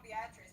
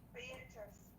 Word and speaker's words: Beatrice: Now I'm stuck on Beatrice because you told me I've been saying it wrong. It's Beatrice. Nope.